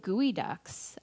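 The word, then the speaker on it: geoduck: i also think of gooey ducks which is a bivalve and gooey ducks is weird because it's not even spelled the way that is pronounced similar to GUI and when i think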